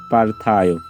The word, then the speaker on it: পার্থায়: এর উপরে রেপ আছে তাহলে থ এর সামনের জায়গাটা হচ্ছে ঠিক এখানে তার মানে আমরা এখানে বয় বিন্দু র ব্যবহার করতেছি আর বাকি যে অংশটি আছে সব ঠিক থাকবে তাহলে পার্থায় তাহলে পার্থায় এর উচ্চারণটা আমরা করতেছি পার্থায় তো আশা রাখি তোমরা